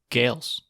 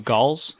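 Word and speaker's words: Gaels: We have 2 Gales. What? 2 Gauls? Gauls? Is Gales. that it? No, you said it right the first time.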